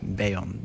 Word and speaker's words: Bayon: de Elit bayana bakacağız beyon diye okunuyor Arkadaşlar şöyle bir arkaya